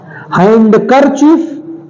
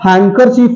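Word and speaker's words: handkerchief: है हैंड करर चीफ हैंड करर चीफ तो नहीं सुना था आज तक हैंकर चीफ होता है हैंकर चीफ please हैंकर चीफ to wipe my hands तो हैंकर चीफ तो होता नहीं हैंकर चीफ होता है तो डी यहां पर भी साइलेंट है तो हर जगह जी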